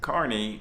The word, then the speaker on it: Kearney: pronounced carnage i know i thought it was matt kearney but i heard matt carney say his name he would know